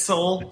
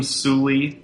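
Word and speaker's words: Soule: Both have these confusing silent e at the end of our names. Uh that make people uh pronounce them sulie or or brownie.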